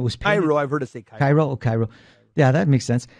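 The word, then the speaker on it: Chi Rho: shields it's called I don't know if I'm pronouncing it right the cheero is the first two letters of Christ's name in Greek and it was pyro ever to think Cairo Cairo yeah that makes sense and and so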